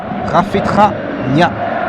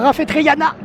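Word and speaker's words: Rafetraniaina: Numéro 33, Rafetra Nia Albert.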